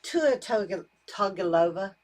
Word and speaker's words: Tua Tagovailoa: Tua Tagovailoa, did I say his name correctly?